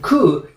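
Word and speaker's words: 九: And ku in Japanese is also the same pronunciation for 9.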